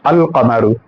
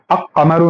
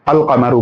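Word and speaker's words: القمر: तो यहां पर जो लाम है इसको प्रोनाउंस किया जाता। अगर इसको हम लोग पढ़े तो कैसे पढ़ते हैं? अल कमरू। ठीक है? अ कमरू नहीं पढ़ते। अल कमरू पढ़ते हैं। यानी लाम प्रोनाउंस होता है।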